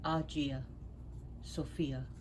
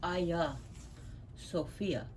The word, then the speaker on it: Hagia Sophia: In Greek it is pronounced Hagia Sophia. The H is silent, and in Turkish it's Hagia Sophia.